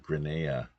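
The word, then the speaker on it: Greada: long is Grena treaty Grena it's like Granada Granada without a d I guess as Robert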